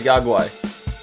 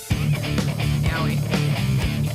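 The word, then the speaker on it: Yaoguai: Warning, this podcast contains Yagwai. Yowie. Yowie. No, it's Yagwai! Gizmo, he's a Mogwai. It rhymes.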